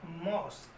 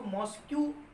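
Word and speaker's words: mosque: ये क्या हो गया हमारा मॉस्क। तो मॉस्क को, इसको मॉस्क्यू प्लीज मत रीड कीजिए, क्योंकि प्रोनाउंसिएशन हमारा गलत होगा।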